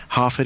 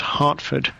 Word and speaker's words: Harford: I guess the only other thing to mention is Harford is spelled Harford, not Hartford. I'm not a town in Connecticut. Or Harvard.